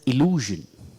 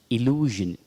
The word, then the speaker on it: illusion: We should pronounce it as illusion. Illusion. It is not illusion. We all say illusion. But it should be pronounced as illusion. That's the only pronunciation given in the dictionary.